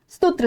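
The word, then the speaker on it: सुत्त: बुद्ध का जो फ़ॉर्मूला है, बुद्ध की जो टीचिंग है, पाली में र साइलेंट होता है, तो इसको सूत कर दिया गया सूत विटा का।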